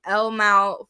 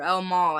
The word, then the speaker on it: El Mal: so best original song El Mal for Amelia Perez or El Maul I should say I being in Texas